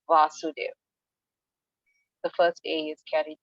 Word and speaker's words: Vasudev: more question about the is it vasudev or vasudeva for krishna so krishna is vasudev so um we know in the sanskrit alphabet um the a can either be a short a or a long a and the long a's carry twice as long as the short eight so you have ah so um with vasudev which is krishna's father it's a short eight positive and with